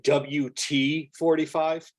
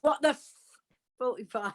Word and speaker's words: WTFortyfive: it where they're going WT45? Well, of course, you do know what it is meant to be, don't you? But since I don't swear, I can't possibly say. But yeah, it's what the 45.